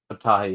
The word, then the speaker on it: Abtahi: Is it Ahmed Abtahi or something? He plays Dr. Pershing. How do you say that? What is his last name again? Abtahi, yeah.